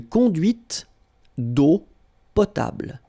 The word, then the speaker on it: conduite d'eau potable: And then when you combine these two, these three vowels A, U, you get the sound O. Only O. Okay? Une conduite d'eau potable.